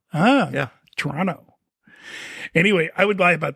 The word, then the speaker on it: Toronto: you mispronounced it though Toronto yeah you don't pronounce the second T what is it Toronto Toronto ah yeah Toronto anyway I would lie